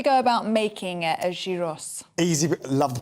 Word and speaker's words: Gyros: written uh Gyros oh yeah but would be pronounced Euros euros and so it's a much lighter so